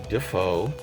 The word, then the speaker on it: Dafoe: slinger's greatest foe awesome how foe might rhyme with defoe as in willem dafoe whatever so let's come on